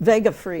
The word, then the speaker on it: Vegafria: wait a minute here, Lexi Vegafria, did I pronounce it right? Vegafria. Vegafria, Yeah.